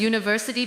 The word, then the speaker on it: university: But we say a university because university begins with a Y sound.